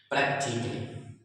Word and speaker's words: practically: तो अगर किसी एडवर्ब यानी किसी शब्द के लास्ट में डबल एल वाई आ रहा है और उस डबल एल वाई के पहले ए आ जाए तो हम उस ए को नहीं पढ़ते हैं।